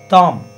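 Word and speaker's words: tham: There is a sound called tam, T-H-A-M, which is the combination of tum and nam. Tum. Num. For Tom, you have to put both Tum and Num together.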